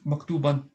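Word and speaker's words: مكتوبًا: What people do this maktuban. Okay, that's correct, but it's written as like this with the alif at the end. We don't pronounce the alif, but it's written like that.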